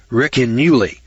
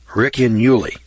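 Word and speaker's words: Ricinulei: It's called the Riccinuli. It's spelled Riccinulei. Riccinuli. That's the way I'm pronouncing it.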